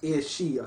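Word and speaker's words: aos sí: This meant the Aosai, pronounced Eoshi, I'm not the best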